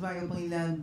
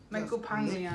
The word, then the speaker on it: Michael Pangilinan: I can finally learn how to pronounce What's it. What's up, Wishers? This is Michael Pangilinan. Don't miss any Wish exclusive videos. Michael Pangilinan.